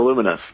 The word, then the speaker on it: Lumines: It's a Luminous. That's how you pronounce it.